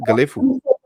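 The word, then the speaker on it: Gelephu: How do they pronounce it? Galefu.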